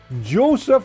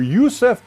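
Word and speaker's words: Josef: Joe who Joe prusa Joseph or Youssef prusa depending on how you say his name uh shawdale 3D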